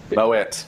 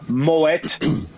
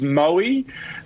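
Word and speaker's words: Moët: guy's name, Claude Moet, that's a Dutch name where they pronounce the T. So it is Moet and Chandon. Yeah. Yes. So if anyone goes around saying it's Moe, make sure you throw a champagne flute at them.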